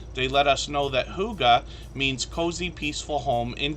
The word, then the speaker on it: Hygge: let us know that Huga means cozy, peaceful home in Danish, and that's how we pronounce this word, Hygge. Or at least as best as I can, if that makes sense.